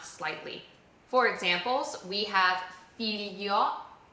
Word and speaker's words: figlio: For examples we have filio. So this is not figlio. This is f i g l io. Filio.